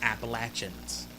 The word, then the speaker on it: Appalachians: say appalachia for the appalachians it's not it's appalachians all right somebody lives here all right that's how we pronounce it okay it uh tensions rose between